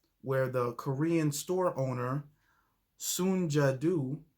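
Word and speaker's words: Soon Ja Du: the korean store owner soon jadoo i believe the name is pronounced took a gun pointed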